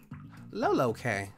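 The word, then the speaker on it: lolk: in the last vid it is said like llo K loo K okay I got it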